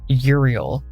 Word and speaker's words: Uriel: and Science and yes I know that he's pronounced Uriel but I was taught for real and I'm just want